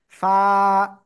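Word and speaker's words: فاء: এই যে কোন জায়গা থেকে উচ্চারণ হবে এই অক্ষরটা, নিচের ঠোঁটের পেট উপরে দুই দাঁতের আগার সাথে লাগাবেন, লাগিয়ে হালকা বাতাস বের করে এক লিফটা নিয়ে উচ্চারণ করতে হবে। ফা, ফা, ফা, ফা, পা, পা, এভাবে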